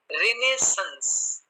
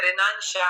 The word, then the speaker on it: Renaissance: तो उस डिक्शनरी में इसका प्रोनाउंसिएशन है रिनेसेंस. रिनेसेंस, तो वो हमें ज्यादा एप्रोप्रिएट लगा. हालांकि जो आपके यहाँ इंडियन डिक्शनरीज हैं, किसी में रेनाशाह है, किसी में रेनाइसेंस है, पता नहीं क्या क्या है, तो इसीलिए हमें वो ज्यादा एप्रोप्रिएट लगा.